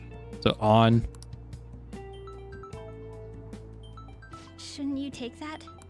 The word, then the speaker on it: Ann: I mean, it looks like Anne, but they said on. So I don't think it really matters which way you say it. I'm probably going to try to say it like how they say it.